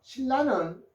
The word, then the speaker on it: 신라: 신라는 읽는 게 신라 리을리을로 소리 납니다.